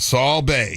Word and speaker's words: Sabe: Write it out phonetically. S-A-W. Bay. I just did it. Okay. I just did it. Saul Bay. Yeah, there you go.